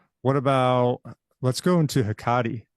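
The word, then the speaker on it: Hecate: about let's go into hiati um yeah that's how you say right inter interview with hiati goddess of the witches H you know Kate yeah all lots of different things that's the current Greek pronunciation I think so so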